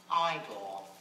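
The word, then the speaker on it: Igor: is in black and white e now it's pronounced iore you know I don't mean to embarrass you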